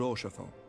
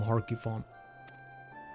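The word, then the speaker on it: Haurchefant: Which reminds me, Lord Orchefon, if you would be so kind. Wait, that's how you say his name? I'm gonna still call him Harkifon.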